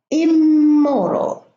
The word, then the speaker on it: immoral: immersion immense but in the second column I have also in at the beginning of these words but they are germinated the two M's are germinated immoral immature a murder in miserable in movable in material in modest why because here we have two parts the second part is a word full well whereas the first part is extra it's a prefix and the M here is the negative prefix so if we have